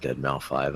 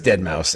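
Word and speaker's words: deadmau5: equals 12 features cth someone's gonna freak out when you pronounce it dead mouth 5 I hope you know that I know it's dead mouse it's dead mouse someone's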